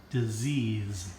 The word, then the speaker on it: disease: And number 2 is the Z sound. Disease. Pay attention. This is spelled with 2 S's, but we say it Disease.